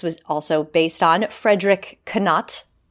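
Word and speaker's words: Knott: also based on Frederick canat not I know it's I I always like to pronounce I think I think the second T is silent indeed so yeah and it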